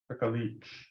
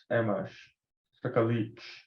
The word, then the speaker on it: Skagit: And if everyone listens, Skagit. can you do it one more time? Skagit. Skagit.